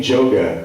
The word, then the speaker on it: Joga: gave me the nickname Joga. That's spelled J-O-G-A. It's like the word yoga, but put a J at the front.